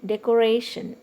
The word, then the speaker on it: decoration: ray is a ra decoration ray this ra is the syllable from the end second syllable from the end so that's why we are marking stress on i in the same way